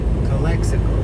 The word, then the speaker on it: Calexico: Calexico.